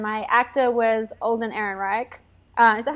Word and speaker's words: Ehrenreich: Ron Howard and my acta was old and Ehrenreich I thought how you say it Erin yes okay old and Ehrenreich so Ron Howard is pretty much done a